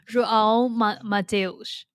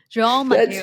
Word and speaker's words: João Mateus: 欢迎来到 Angie Creates，我是你的主持人安吉。在这个节目呢，我喜欢和来宾们聊聊关于数位游牧、写作、艺术和身体训练的不同主题，探索如何活出最精彩的人生。Today, the guest of my podcast is João let me pronounce it again. João Mateus. João Mateus.